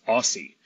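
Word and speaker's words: OSSI: at the open- source seed initiative pronounced Aussie we are recording today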